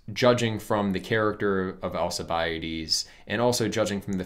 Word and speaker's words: Alcibiades: alcibiades attention and so the way that i'm pronouncing alcibiades by the way is the standard english pronunciation in greek it would be closer to uh alcobiatus something like that but i'll say alcibiades um this impediment has